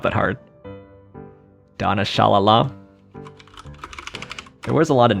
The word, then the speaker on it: Shalala: not that hard donna shalala there was a lot of names i didn't know i wonder if i'm pronouncing it wrong i am it's shalala looks a lot like sha la la but shala um naomi klein